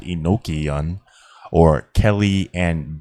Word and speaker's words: Enochian: the Hebrew, but from the angelic or Enochian, pronounced Enochian, or Kelly and D, of Kelly and D.